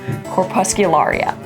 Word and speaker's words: Corpuscularia: imposing names and just work it out letter by letter, pronouncing each one. So this little guy, for example, I would break it down and say corpuscularia. And you can put it all together and you get corpuscularia.